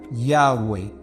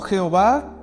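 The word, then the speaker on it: Yahweh: estudiosos más más avanzados dicen que eso se pronuncia ya güey verdad no Jehová sin embargo nosotros lo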